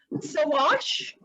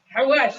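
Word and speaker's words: xawaash: I don't even know if I'm pronouncing it correctly, but sawash. Hawash, yes.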